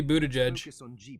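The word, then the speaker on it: Buttigieg: you were mentioning what budich right yeah I think it should be Buddha judge yeah I I can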